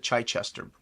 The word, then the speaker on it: Chichester: me a video of how he pronounces his last name and it he does pronounce it Chai Chester uh but then again